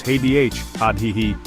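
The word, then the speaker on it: هذه: So, for this with a feminine thing, you use hih. Say it with me. It sounds a little softer.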